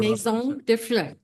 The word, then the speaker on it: Maison de Fleurs: Maison de Fleurs. That's how you pronounce the name, meaning House of Flowers.